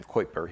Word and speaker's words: Kuiper: the astronomer Gerard Kuiper, who probably pronounced his name Kuiper, he was Dutch. But Americans always say Kuiper.